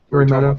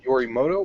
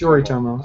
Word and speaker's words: Yoritomo: Yoritomo. There we go. Yoritomo. Is it Yorimoto or Yori? It's Yoritomo. I keep wanting to say Moto because of the Morimoto, because my brain.